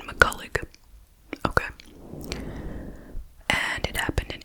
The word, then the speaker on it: McCullough: So we are talking about the case of Virginia McCullough. That's how they're pronouncing it. On everything I've seen, McCullough.